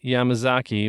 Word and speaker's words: Yamazaki: wrong but confidently takayashi yamama yamazaki yeah Takashi yamazaki was a director and writer of this movie